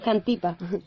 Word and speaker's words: Xantipa: Sí, bueno, la esposa de Sócrates, Xantipa, si no me equivoco en la pronunciación, corrígeme por favor, Raquel, que el griego no es lo mío. Xantipa.